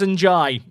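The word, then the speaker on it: Ndiaye: NDIA is pronounced in Jai.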